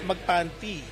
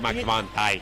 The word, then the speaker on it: Magpantay: Some people in Thailand call him Jonas Magpanty. You know But it's Magpantay. You know what's Magpanty? No. Oh, never mind. It's just the pronunciation. But Magpanty is no good. It's Magpantay.